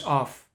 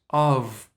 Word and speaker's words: of: say that preposition, because preposition of is actually pronounced not as of, but as of. That's crazy, right? There is no F, there's no F sound in the end. There's only V sound, like in very, or ovra, or olive, of.